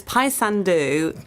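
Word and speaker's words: Paysandú: Uh, it's Pyandu and I wouldn't have known how to say it either, but it's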